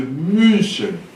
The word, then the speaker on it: München: Não é U nem é I, é U. Você pronuncia München, München.